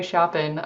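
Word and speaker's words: Chapin: And there was a man, Henry Shopen, I think that's how you pronounced his name. It's C H A P I N.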